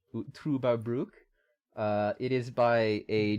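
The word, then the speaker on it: Trüberbrook: that you gave me trouba is up next uh it's pronounced with an uber as in ubermensch trueba brook uh it is by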